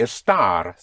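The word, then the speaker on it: estar: But esta I would pronounce Esther like an esta note. E S T A R. Hm. E S T A R. Oh, that would be a star.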